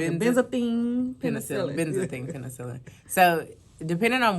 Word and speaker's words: Benzathine penicillin: How you pronounce it? Benzathine penicillin.